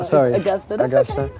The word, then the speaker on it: Augusta: Uh, you were born in Augusta, Georgia. Augusta. Augusta. Yeah, it was like August. I know. Augusta, that's the proper way to pronounce it.